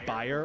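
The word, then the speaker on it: Bayer: BA or more commonly pronounced buyer or bear decided to take a stab in the lab to produce something fab.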